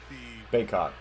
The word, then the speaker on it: Bacot: Is it Backett or Bacot? 3 officials quickly restore order. Mondo put his shoulder into him, and they called for an offensive foul. Baycott. That's how you say his name.